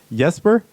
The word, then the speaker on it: Jesper: well done hey there so there's a difference between how you would pronounce the the letter J in Swedish sure which is which kind of more like sounds like the why kind of a soft J the English version of